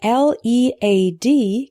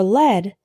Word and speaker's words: lead: The word L-E-A-D can be pronounced lead or led.